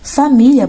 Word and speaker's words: família: Aqui, família é paroxítona, terminada em ditongo, porque termina em IA, tá vendo? E é uma paroxítona porque a penúltima sílaba, mi, é tônica, tá bom?